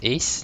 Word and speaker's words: EHZX: EHZX is actually pronounced as Ace, like ACE.